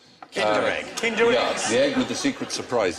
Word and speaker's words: Kinder: extra point for that actually rhymes with tinder egg kinder yeah with the secret